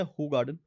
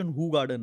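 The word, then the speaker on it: Hoegaarden: उसके बाद एक है हू गार्डन. इसका Hoo प्रोनाउंसिएशन हू गार्डन है, अच्छा, हो गार्डन नहीं है.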